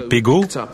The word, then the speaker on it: PGO: PGO, prononcé Pego, était un mot qu'il avait appris lors de ses voyages quand il était marin.